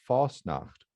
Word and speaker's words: Fasnacht: And when Pennsylvania Dutch speakers who have chosen to write the language, then they've spelled it as pretty close as to how it's pronounced, which is without the T, Fasnacht.